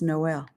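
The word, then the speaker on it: Noël: When you see two photos, when you see two points on an O, pronounce the letter like Christmas, Noel.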